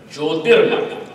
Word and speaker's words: Jyotirmath: Actually, this village Joshimath is an apabhramsha, is a mispronunciation of the word Jyotirmath. It actually was Jyotirmath. Jyotish, Jyotir, Jyotir became Joshimath.